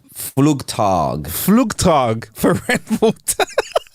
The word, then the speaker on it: Flugtag: called the fluke I'm going to get the name wrong can you the fluge fluge flug it's called flug tag flug tag for Red Water yeah I've watched